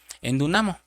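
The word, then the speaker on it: ἐνδυναμόω: Y cuando Pablo dice fortalecer, viene de una palabra griega que se pronuncia endunamo, que quiere decir fortalecer, preparar o hacer capaz.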